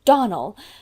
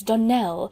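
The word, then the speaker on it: Donnell: you pronounced our name Donal now Miss Shirley the correct pronunciation of our name is Donell Accent on the last syllable I hope you'll remember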